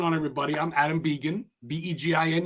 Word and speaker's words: Begin: I'm Adam Begin, B-E-G-I-N. You said it right, by the way, Begin, French, or Begin. If you're a hockey player, Steve Begin.